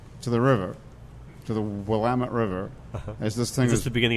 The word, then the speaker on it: Willamette: Emmett I always thought that was Willamette yes pronounced Willamette okay we've learnt something today okay yep and